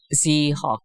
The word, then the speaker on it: Zierock: Zierock. How do you spell that? Zierock. That's a complicated German name. Zierock. Okay, Zierock. Okay, so you guys are all Xerox. Yes. Right, like Xerox. Almost.